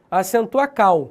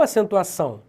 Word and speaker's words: acentuação: da língua por exemplo vamos supor que a palavra acentuação não tivesse o cedilha nenhum tio como é que seria a pronúncia acentuacao ah e não acentuação tu percebe que o cedilha a marca que você e tem som de s o ou de ir